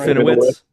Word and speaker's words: Serafinowicz: I do think it's funny though that Peter Serafinovich, is that how I said? Did I say his name right? Serafinowicz.